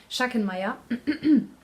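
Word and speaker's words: Schachenmayr: brand chiffon Maya sure so you would pronounce it shucks in Maya also indicate because I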